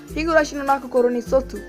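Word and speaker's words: ひぐらしのなく頃に卒: यस, आई am talking about हिगुराशी नो नाको कोरोनी सोत्सु, और मैंने इसे सही प्रोनाउंस किया है।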